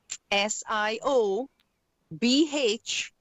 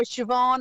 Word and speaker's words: Siobhan: I mean I've had people say um oh how do you say your name um Siobhan um but there's a b in it and I go well that's how I say it and that is how is it that's awesome so Siobhan